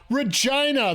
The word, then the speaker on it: Regina: Regina, the city that rhymes with fun.